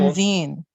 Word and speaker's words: convene: Okay, so in the two syllable verbs, the second syllable is normally stressed, but there are exceptions to the rule.